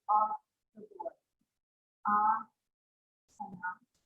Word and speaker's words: asana: Asana. So it's a long A. Okay, so it's asana as opposed to asana. If it was asana, there would be a long A in the middle. Here. So we could just pick this letter right off the board. And then it's a regular sa sound. It's not an SH, right?